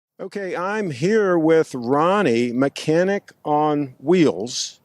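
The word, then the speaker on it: Mechanic on Wheelz: I'm here with Ronnie mechanic on wheels basically is how it's pronounced and you can see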